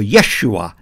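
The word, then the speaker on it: ישוע: The child is named Jesus, or Yeshua in Hebrew.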